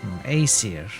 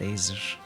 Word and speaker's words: Aesir: Aesir. Aesir, not Aesir.